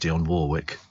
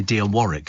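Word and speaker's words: Dionne Warwick: duet with Dion Warwick and I know it's pronounced Dion Warwick because I fell cuz I went to here in concert and she came in for an interview and it's people used to say Dion Warick and I went no Dion Warwick and she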